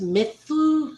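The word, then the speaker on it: Muse: So, despite it being myth, it's pronounced Mythu, so mouse.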